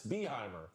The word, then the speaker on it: Behymer: Yes, Behymer. Yes, Behymer. Guys, it's Behymer.